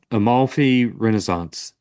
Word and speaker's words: Amalfi Renaissance: It's, like I said, it's going to be very difficult to learn, but how's it pronounced again? Uh, Amalfi Renaissance.